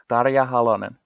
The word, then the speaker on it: Tarja Halonen: like our president," and I'm gonna get this name wrong. Tarja Halonen? Tarja Halonen.